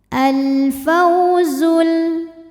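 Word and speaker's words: الْفَوْزُ: Wadzalikal faw ada harfulin atau huruf lin sebab ada waw sukun didahului harokat fathah. Cara bacanya dilembutkan atau dilunakan. Al-fawzul.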